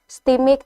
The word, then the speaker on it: STMIK: Ini bacanya gimana nih? STIMIK atau STIMIK, benar nggak bacanya? STIMIK, ya, STIMIK.